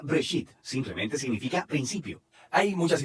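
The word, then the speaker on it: בראשית: Se pronuncia Breshit.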